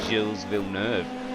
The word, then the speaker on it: Gilles Villeneuve: how to say it I think I was saying Gillies or something but Gillsville nerve and that's pretty easy to say but that was the